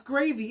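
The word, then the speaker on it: Grévy: It's spelled, maybe there's a better way of pronouncing it, but it's Grevy, and that was actually a person. Was named after the person who kind of like officially identified them. I think it was a Frenchman. So I might be mispronouncing it, but it's like Gravy.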